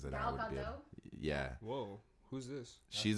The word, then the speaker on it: Gadot: She doesn't Gahat have to Gadot. be. Oh, I don't know how to say her name. I wish I did because then I Gal would be. Gadot?